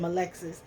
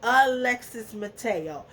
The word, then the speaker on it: Alexis Mateo: did my first episode I said Alexis's name wrong I said my Lexus I better say Alexis Mateo I felt like she